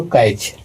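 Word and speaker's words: catch: अगला है दोस्तों कैच। लास्ट में सीएच आ गया और सीएच के तुरंत पहले टी आ गया तो इसका नियम यह है कि सीएच के पहले टी साइलेंट होता है तो सीएच के पहले टी आ गया तो टी साइलेंट हो जाएगा। तो इसको पढ़ेंगे दोस्तों कैच।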